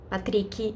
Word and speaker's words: Patrick: name is pronounced deny as Patrick is pronounced patrii and that's fine that